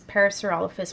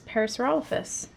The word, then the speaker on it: Parasaurolophus: was a kid is parasaurolophus and some people say it parasaurolophus um but yeah here here we generally say parasaurolophus that's just how we stress the syllables next question amber witt